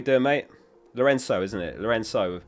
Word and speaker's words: Lorenzo: Lorenzo, pronounced with an S, not Cho.